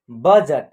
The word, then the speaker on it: बजट: है क्या है बजट तो ब का उच्चारण पूरा हो रहा है ब उसके बाद ज का उच्चारण पूरा हो रहा है ज ट का उच्चारण में जो है ना अ की साउंड का प्रयोग आपको नहीं करना है यानी जो शब्द हम